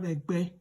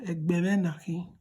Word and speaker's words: Ęgbę: Please don't forget, anywhere you see diacritic, remember to just change letter E pronunciation to E. And then the one without diacritic, you say E. With that, you are able to pronounce perfectly.